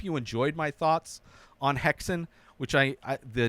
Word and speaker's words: Häxan: Häxan is, I forget what language it is, but it's interesting that witches put hexes on people, and Häxan is how you pronounce the title of this movie.